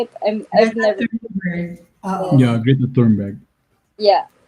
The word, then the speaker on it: Thunberg: Thunberg.